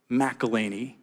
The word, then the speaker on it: McElhenney: documentary series about your team ownership with Rob McElhenney. Close, yes. I watched that video in which you tried to get people to pronounce his name.